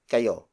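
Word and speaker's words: kayo: multiple people and then the second word is ko ko ko ko is spelled as K a why oh it means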